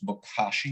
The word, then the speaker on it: bokashi: composting i also hear about people using this bokashi method and i'll spell it out just in case somebody's listening it's